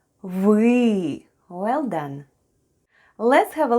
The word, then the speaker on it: вы: The first sound is В and then we have Ы try saying e while pushing the tongue to the back of your mouth excellent try saying it with me wee well done let's have